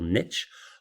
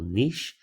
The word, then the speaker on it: niche: what uh pronounced ecological niche or sometimes pronounced ecological niche it's sort of a tomato Tom model comparison now when we talk